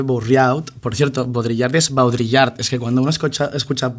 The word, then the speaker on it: Baudrillard: Baudrillard, termina, por ejemplo, en Nicolas Bourriaud, que se escribe Bourriaud. Por cierto, Baudrillard es Baudrillard.